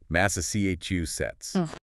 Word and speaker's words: Massachusetts: Massachusetts. Four syllables with the stress on the third. Massa chu sets.